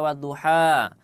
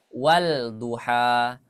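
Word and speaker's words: والضحى: dan Jangan sampai keliru misalkan kita ingin baca wadduha ah yang seharusnya dibaca wad Mara dibaca waluha mungkin dibaca Mad wuha tidak tapi langsung tasdid langsung ke huruf yang syamsiahnya wadduha waduha ya waduha cukup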